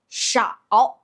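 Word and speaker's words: 少: sh ow and with the third tone sh ow shao.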